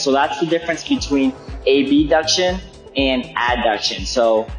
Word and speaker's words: abduction: that's the difference between a b duction and adduction so i'm going to be saying ab duction so the pronunciation is easier to distinguish so the strength portion